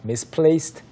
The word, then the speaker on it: misplaced: 끝 에 "d" 가 붙어 있지만 , "d" 발음 은 아닙니다 . "t" 발음 이에요 . 't' 발음 입니다 . 예 . 정확히 . 그래서 "misplaced" 는 "t" 소리 로 끝나고 그 뒤 에 "my" 가 옵니다 .